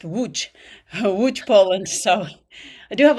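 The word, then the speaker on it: Łódź: Um Matteo invited me for it's in it looks like Loads, but it's pronounced Wu Woo Poland.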